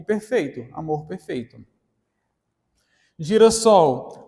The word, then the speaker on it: girassol: Girassol, apesar de haver aqui uma consoantezinha de ligação, né, um S aqui, para não ficar girasol, continua sendo a pronúncia girassol.